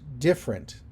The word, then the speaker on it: different: it a different way like the word different this first syllable is stressed and the second syllable is unstressed so different I